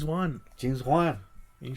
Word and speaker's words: Wan: But you said Juan. Juan. All right, go ahead. How do you say it? James Wan.